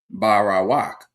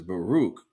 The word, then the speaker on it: Baruch: And it was kind of hard for people to pronounce his name, Barawak, right? So I said, yeah, the real way to pronounce it is Baruch.